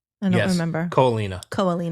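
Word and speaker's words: Ko Olina: Disney Vacation Club property in how do you pronounce it? In Kauai? No, it begins with an O. Oalina? I don't remember. Ko'olina.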